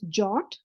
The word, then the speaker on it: JWT: for Json web tokens it's pronounced as jot what it is it's